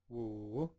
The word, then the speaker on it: 五: 五 So it's like woo, woo. So to me, I kind of hear like a wolf, wolf.